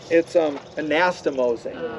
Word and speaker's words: anastomosing: That's the one, but that's not how you say it. It's anastomosing.